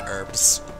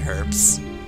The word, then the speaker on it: herb: got no wait I don't like that people pronounce it herbs I I know that that that you statistically may or may not like that I pronounce it herbs but but it's it's herbs it's not herbs